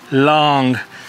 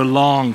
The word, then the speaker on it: Lang: Yep, L-A-N-G, here's the card, Long. So in Mandarin, the A is pronounced like the ah in father, I guess, so Long, father.